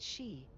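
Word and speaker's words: Sidh: And it's spelled S-I-D-H. That's how you spell she.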